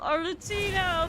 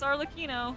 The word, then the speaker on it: Arlecchino: Oh my god, Arlecchino, thank you for Arlecchino.